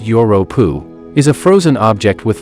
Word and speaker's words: Europa: Jupiter's moon Europa, which is pronounced Europa, is a frozen object with liquid water on it that is even within our solar system.